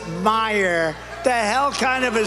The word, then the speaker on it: Meijer: of the ten impeachers a guy who spells his name m-e-i-j-e-r but they pronounce it Meyer the hell kind of